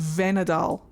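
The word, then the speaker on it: Vhenadahl: See if this Venadal tree can give us any answers. It's pronounced Venadal.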